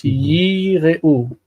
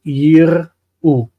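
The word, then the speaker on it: יִירְאוּ: means feared, they feared, the meteg is placed beside the 𝗥𝗘𝗦𝗘𝗥 to indicate that this 𝗥𝗘𝗦𝗘 is long. It's long. It's yireu. Yireu. It's not yir'u. Yir'u is the way that you say they saw.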